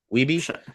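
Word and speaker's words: Wiebe: Have to tell me how to pronounce Andrew Andrew Wy Weebi Weebi.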